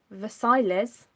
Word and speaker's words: Versailles: so i use very versailles just at the end just for the the text script there so that's very versaille of versailles depending how you want to pronounce it all things fabulous i